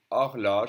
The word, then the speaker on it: horloge: O as in une horloge. It can be pronounced A or O. A, O. It depends. Une horloge, the H is silent for a clock.